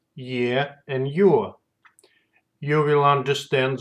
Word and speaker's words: Е: The letter ye has a sound similar to English sound in the words yet, Peter, or exit.